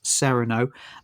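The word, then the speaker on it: Cyrano: that obviously they changed Sereno Serrano de Bergerac but in this film is he's pronounced he's he's pronounced as Sereno um they've changed it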